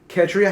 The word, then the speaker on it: Ketria: Hi, I'm Ketria. Ketria. She says that you pronounce her name like Katrina without the N.